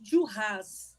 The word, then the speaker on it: Duras: A gente pronuncia esse S, tá? Essa pronúncia que arrebenta a gente. Porque no francês você acha que não vai pronunciar o E, mas o nome dela você fala, né? Marguerite Duras, pronuncia.